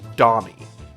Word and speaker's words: Dommy: his puppet's name is dmy which is supposed to be just the funny way of pronouncing dummy with like his very thick accent which becomes very funny